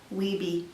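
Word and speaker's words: Wiebe: it's kind of neat jenny weeby is her name w-i-e-b-e i think that's how you pronounce it so ta-da fun you've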